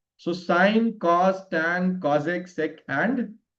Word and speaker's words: sine: So this is the first function is called as sine. How do we pronounce it? It's called as sine. So in short, it is written as sin. So don't read it as sin or else you will be committing one.